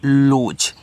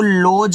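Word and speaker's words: lose: अरे यार एल ओ एस ई तो इसको पढ़ते हैं लॉज। इसको लॉज मत पढ़ देना।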